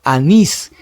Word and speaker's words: anís: Anís no es anís, es anís. Te lleva sílaba tónica en la última que nis y termina en S, entonces sí lleva tilde.